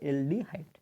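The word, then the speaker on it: aldehyde: মানে এটাকে বলতে হবে এলডিহাইড অ্যালডিহাইডের উচ্চারণ হচ্ছে এল এর মত এলডিহাইডের এল এর মত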